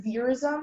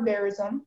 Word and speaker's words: verism: Is there any alternative pronunciation? Yes, there is veerism and veerism. Can you give me all the information? Sure. If you pronounce veerism or verism, it's a noun. It's from Italian, and it